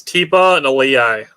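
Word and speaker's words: Tipa Galeai: It's Tipa and Aliyai.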